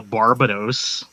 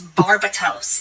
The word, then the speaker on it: Barbatos: name is Barb slim it's not the island and it's not it's barbatos there's a te not a yeah it's barbatos whatever barbos you Barbados